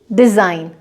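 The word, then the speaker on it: design: ऐसे ही डिज़ाइन। Right, तो जहाँ पर भी आपका जी के बाद इमीडिएटली एन आता है या एन से पहले अगर जी लिखा गया है तो जी का प्रोनाउंसिएशन नहीं होता है।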